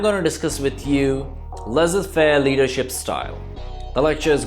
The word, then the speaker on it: laissez-faire: इसको लिखा तो लजीज फेयर जाता है, आखिर का जेड जो है वो साइलेंट है, तो इसको laissez-faire लीडरशिप स्टाइल कहा जाता है।